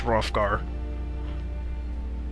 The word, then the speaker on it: Hrothgar: Is it Hrothgar or just Hrothgar? I think it's Hrothgar. Yeah, the H is silent.